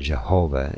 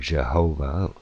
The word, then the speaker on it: Jehovah: This changed in the descendant languages into various stronger consonants, including in English the sound J, or the word of juice, and thus English pronunciations of the older form Jehovah has this J sound.